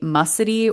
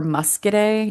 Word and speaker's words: Muscidae: So this is the family Mussidae or Muscidae, depending on how you pronounce it. It's a silent C for me normally because you don't say when you say science, you don't say science.